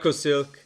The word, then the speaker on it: Leukosilk: Stefan, use Leukosilk. Did I say it right? Leukosilk, yeah.